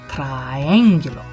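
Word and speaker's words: triángulo: the words correctly so when there's an accent over the eye that means we really want to kind of focus on that i sound so triangular there you go and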